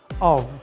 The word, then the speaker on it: of: the native speakers is of they pronounce the F letter like V with a very small syllable for example of of when